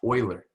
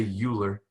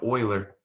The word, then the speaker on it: Euler: fella by the name of leonard it's actually pronounced euler okay some people say euler okay but euler all right way back in the 17s okay